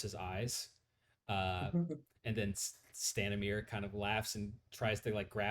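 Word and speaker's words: Stanimir: how do you uh Matt how do you pronounce that name again stanamere s-t-a-n-i-n-i-r and the uh uh uh uh the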